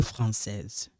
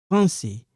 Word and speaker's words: français: Alors ici Pierre et français Pierre et français. This one is silent. We don't pronounce it.